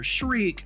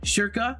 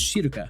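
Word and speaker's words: Schierke: I know a lot of people get it wrong and call her Shreek. In an American dialect, you would say Shirka. And in the Japanese pronunciation, it would be somewhere along the realm of Shiruka.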